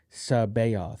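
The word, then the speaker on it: C'baoth: a convention and Timothy zon said it was pronounced that way Sao right s it was like Sao and so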